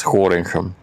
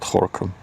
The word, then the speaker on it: Gorinchem: I still don't know why I pronounce it correctly, because it is Gorinchem, not Gorkum.